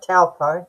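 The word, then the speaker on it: Taupō: That's right. Talpo.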